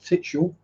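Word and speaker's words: Tivetshall: If you pronounce it correctly, according to the way it used to be spelled, Titshall. Yes, it used to be called Titshall. Spelled exactly like that.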